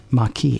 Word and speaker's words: Maquis: Well, no, they they sent a pronouncer with it. So, so Kira knew it was Maki.